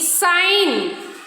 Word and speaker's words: sign: so not supporting Okay g is silent when it comes before the letter N okay n okay so